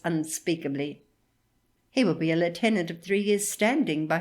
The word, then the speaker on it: lieutenant: of my brother's promotion Lieutenant Shanks readers note Lieutenant is the Royal Navy pronunciation back to my text